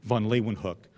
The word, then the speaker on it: Leeuwenhoek: Dutch names and in in english-speaking places we often say vonlee one hook but she said nose family we can't even pronounce he got to get your jaw going in a whole different way she also yelled at